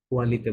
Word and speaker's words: qualité: quelles sont les qualités কালিতে, de la candidate কালিতে, কোয়ালিতে বলা যায়, qualité Yuta silent থাকে।